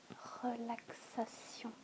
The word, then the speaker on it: relaxation: The French word for relaxation is surprisingly the exact same word, but it is pronounced differently. It is pronounced relaxation.